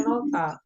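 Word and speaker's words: 넓다: mok bukan mod gitu sama juga dengan nolta yang artinya luas nah nota ini dibacanya nolta k apa eh Real yang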